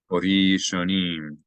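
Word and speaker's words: הָרִאשֹׁנִים: Hori shonim. The aleph is silent because there's no vowel above or below it.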